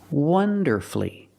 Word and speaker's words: wonderfully: and he performed wonderfully wonderfully three syllables don't pronounce a u you have two syllables before f l l y and the stress is on the first syllable so the U is silent wonderfully he performed wonderfully let's